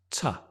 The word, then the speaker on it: to: to shopping right and when you speak the two becomes ta because your stress is addicted shopping addicted to shopping addicted